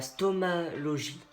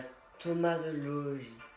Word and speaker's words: stomatologie: J'aurais dit la stomalogie. La stomatologie. Oh, j'arrive pas à prononcer. La stomatologie, voilà.